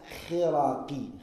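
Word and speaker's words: الخرقي: وَبِالْ مُنَاسَبَةِ It's said as Khiraqi. Khiraqi. That's how you say it.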